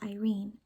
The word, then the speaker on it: Irene: And about Irene, it's pronounced Irene, a Greek goddess whose sisters included the goddesses of lawfulness, justice, and justice.